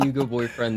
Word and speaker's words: Hugo Boyfriend: I am joined by the wonderful Hugo Boyfriend. Boyfriend, how are you? I couldn't be better. I am Hugo Boyfriend. The H is silent.